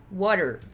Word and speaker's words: water: Então isso daqui a gente vai pronunciar water, water, water, saiu de um som do R